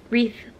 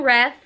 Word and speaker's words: wreath: stockings and my wreath wreath that's how you say it guys three i was saying wrath and someone corrected me which i don't mind please tell me how to say it if you do it in a nice way i don't mind if you correct me i was saying wrath doesn't i say it's wreath wreath did you know that